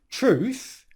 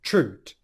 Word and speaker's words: truth: In the word truth, where the th sound could come out in between your teeth, truth, he pronounces this as a clear T sound, truth.